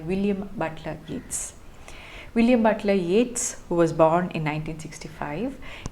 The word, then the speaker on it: Yeats: to mention is that his name though it is written as y-e-a-t-s is pronounced as yet's it would do good